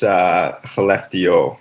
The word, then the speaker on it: Skellefteå: So at this point, I don't think you can go wrong, but I think it's Skellefteå, if I'm correct.